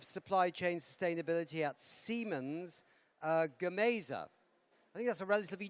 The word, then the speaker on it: Gamesa: Is it Gamesas? You help me with the pronunciation of that.